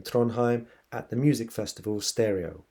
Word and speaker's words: Pstereo: at the music festival stereo, which has a silent P at the beginning if you would like to Google it.